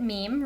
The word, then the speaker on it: meme: sounded like gene and so he wanted a mono syllable that sounded like gene and jean and meme rhyme he denoted that it should rhyme with cream and examples of memes